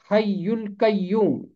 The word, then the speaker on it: حی القیوم: اردو ترجمے میں یہ نام لکھ دیا گیا، حی القیوم۔ اس کا تلفظ ہے حی القیوم، حی القیوم، یہ ہے